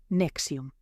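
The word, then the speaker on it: NXIVM: N X IBM se pronuncia Nexium.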